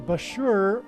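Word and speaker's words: Bushehr: nuclear power plant and Bashur rhymes with Barker it is predicted that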